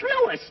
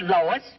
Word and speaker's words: Louis: Me name is Louis, not Lois. Jew whiz. Everybody interpolates me name wrong. It's Louis. L O U I.